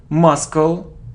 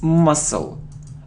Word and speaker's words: muscle: walk walk it isn't Maskull no it isn't Maskull no it's muscle we don't pronounce C must it isn't health